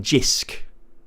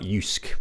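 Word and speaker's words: Jysk: Uh, I tell you what, we've been we've been getting loads of stuff from Jisk. I think it's not pronounced I think it's pronounced like Yusuke pro probably, but there's a Yusk or Jisk in Lincoln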